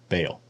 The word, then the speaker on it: Baal: right here in Hebrew ba I know that's how you pronounce it in Hebrew I also know that in ugaritic it's B o and in English anglicized it usually is pronounced Bale just like yov is